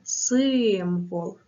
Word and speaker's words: символ: класна робота розминка Сири символ наголос на перший склад символ запишемо з вами народні